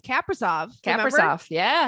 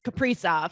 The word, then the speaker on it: Kaprizov: to the Wild, everyone thought it was Kaprizov. And then like once he was signed, like I don't remember who, maybe Russo tweeted, somebody tweeted, they're like, actually the correct way he's saying to say his name is Kaprizov.